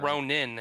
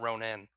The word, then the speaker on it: Ronin: It's more like Ronin and not Ronan. Yes, yeah. Ronan the barbarian and Ronin the warrior. The ninja.